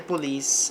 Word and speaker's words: police: By the police é pela polícia. A sílaba forte no inglês fica aqui no meio.